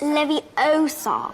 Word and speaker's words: Leviosa: a wizard harry you're saying it wrong it's leviosa mr potter why spiders why can't we follow